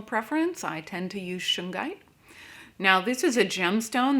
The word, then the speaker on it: shungite: stone of clearing now this is a gemstone that can be pronounced two different ways i've heard it both shungite and shinjite i've heard them both